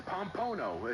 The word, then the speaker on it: Pompano: Pompano Pompano Pompano beer why do why do people have trouble pronouncing it I don't know it's it's pompono it's on Pompano that's